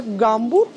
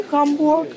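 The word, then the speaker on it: Hamburg: Есть еще такие примеры, например, Гамбург и Хамбург.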